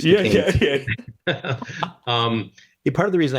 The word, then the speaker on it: Duquesne: Who's Duquesne? No, it's Duquesne.